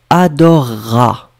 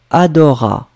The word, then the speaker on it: adorera: Et écoutez-moi quand je vais juste prononcer la forme du verbe. Adorera. Je ne vais pas prononcer ce que vous avez majoritairement écrit. Vous avez écrit adora. Et si vous écoutez bien, je prononce une sorte de double R. Adorera. Ra. Ça dure plus longtemps.